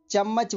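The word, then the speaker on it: jiemei: यहाँ पर ध्यान दें, जे को च पढ़ा जाएगा, चम्मच वाला च।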